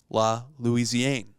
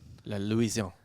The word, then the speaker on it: La Louisiane: of one thing called La Louisiane. La Louisiane. La Louisiane. These are So- dirty, dirty La people. Louisiane. Is there an E at the end? Yes. Then you pronounce the end.